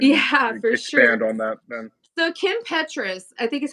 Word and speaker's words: Petras: for sure so Kim Petras I think is how you say it is it Petrus or Patriots it's Petrus Kim Petras Feed the